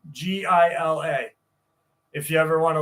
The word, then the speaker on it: Gila: If you ever want to look up Gila, it's spelled with a G. Gila.